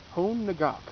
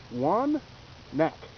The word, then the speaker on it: Hoan Ngoc: it would be h-o-n-n-g-o-c you'd think it was home nagak or something like that however that's vietnamese and it's pronounced one neck dunak three neck corny jokes strike every time